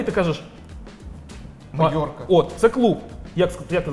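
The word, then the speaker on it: Mallorca: Це просто питання вимови. Майорка, Мальорка, команда Мальорка, а острів Майорка.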